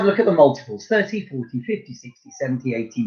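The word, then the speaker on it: trente: Number 30, T-R-E-N-T-E. 30. 30. So it's like Trent with an E at the end. But you don't pronounce the E.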